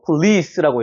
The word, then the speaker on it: police: 그런데 강세가 여기 있기 때문에 폴리스라고 읽으면 안 되고 police라고 해야 됩니다. police 이렇게 올라가는 발음이 되는 거예요.